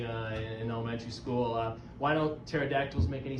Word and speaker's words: pterodactyls: Why don't pterodactyls make any sound when they go to the bathroom? Because the P's silent.